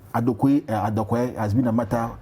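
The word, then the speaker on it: Adukwei: Mensah, whose middle name Adokwe has been a matter. Adukwe has been a matter for an issue of its pronunciation in court. It's called Adukwe. Now, post matters prior to the elections.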